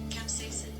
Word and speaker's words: capsaicin: Capsaicin.